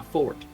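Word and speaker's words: forte: it's one of my I suppose you say it's my fort that's exactly how you pronounce that I'm so glad you said that the silent e um can you scry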